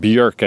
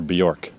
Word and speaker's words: Björk: Björk, I guess, is technically how you pronounce it, but I'm North American, so I'm going to call her Bjork.